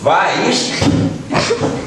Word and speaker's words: Weiss: nom d'Edelweiss, hem dit Weiss. I què hem dit de Weiss? Que era una paraula alemanya i que en alemany la E i la I, com se pronuncia? Ai.